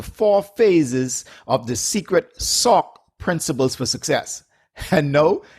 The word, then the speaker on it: SOCC: o c c principle it's just pronounced or i pronounce it as sock okay you still with